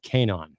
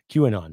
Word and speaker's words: QAnon: groups like neo-nazis and Canon or Canon qanon sorry I mispronounce that anti-2 lgbtq plus a